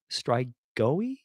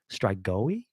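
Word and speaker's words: strigoi: he had become a strike go away strike going I think that's how you pronounce it s-t-r-i-g-o-i strike going a vampire kind of like what Nosferatu was considered a strike goey I think that's how it is pronounced so six men had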